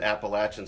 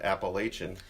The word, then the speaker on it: Appalachian: to school but but I've always known to pronounce that Appalachian State ever since Blair had a little run-in with Danny knee former Nebraska basketball coach Danny knee called in appellations yes and we're gently corrected him yeah but I digress